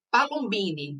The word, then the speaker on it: Palombini: Eu não te perguntei, Carol, qual é a pronúncia correta do teu sobrenome, mas vou arriscar. Palombini, tá certo?